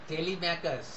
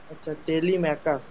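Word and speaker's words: Telemachus: মাই সন mine নয় সান সান মাই ওন টেলিমাচুস টেলিমেকারস টেলিমেকারস স্যার এটা বাট ম্যাকাসটা ক উচ্চারণ হয় টেলিমেকাস এক সেকেন্ড উচ্চারণটা বাংলা লিখে নিচ্চার টেলিমেকাস টেলিকাস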